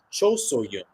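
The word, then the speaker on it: Cho So-hyun: Should mention, got Ji So-yun, last name spelled S-O-Y-U-N, and then Cho So-yun, last name spelled S-O-H-Y-U-N. So different spelling, but pronounced the same.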